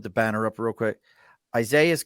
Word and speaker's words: Isaias: Isaias, and that's for those of you who don't know, it's ISAIS and then, just No.